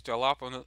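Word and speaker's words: jalapeño: yeah, I cannot pronounce, I don't know why I was saying the J. I knew that had that J was silent, or it just pronounces a H.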